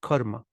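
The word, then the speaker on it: कर्म: grown up hearing this karma karma karma karma and then the technical thing is just that the first uh lasts longer than usual karma karma Karma Yoga okay and then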